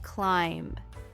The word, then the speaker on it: climb: And climb like climbing a mountain. Yes, climb.